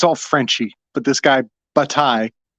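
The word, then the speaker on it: Bataille: Frenchy but this guy batai there's a silent l in there um he has uh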